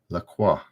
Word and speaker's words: La Croix: girl gets it no it's not perrier it's la croix it's pronounced lacroix right lacroix lacroix oh it's saying